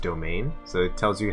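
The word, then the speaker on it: demesne: stage your piety that I know it says Dementor but it's pronounced domain so it tells you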